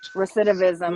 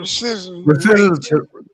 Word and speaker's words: recidivism: Rate recidivism. Recism.